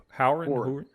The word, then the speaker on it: Hourin: good hey doctor tom how do you say your last name is howard okay yeah yeah horan okay dr stretch there you